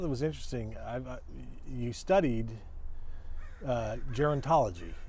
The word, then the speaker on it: gerontology: You studied gerontology, right? Mm-hmm. Is that how I pronounce it? Gerontology.